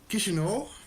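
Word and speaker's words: Chișinău: think if it's uh if you pronounce it correctly it's uh kishino did you know i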